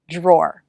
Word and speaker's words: draw: in the drawer okay draw that's a pretty hard word we start with the dr consonant cluster der d r can sound like j r j draw many americans pronounce it this way so if it's easier